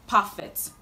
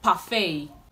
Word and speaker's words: parfait: Now our next word, this word is commonly pronounced perfect. But the right to pronounce this word is parfait, parfait. The T in this word is silent.